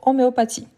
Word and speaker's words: homéopathie: on a homéopathie h homéopathie voilà le H il n'est pas prononcé en français hein du tout sauf que on peut